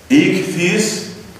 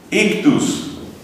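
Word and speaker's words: ἰχθύς: Resulta que el pescadito en griego se dice ichthys, que se suele pronunciar, así castellanizándolo un poco, ictus.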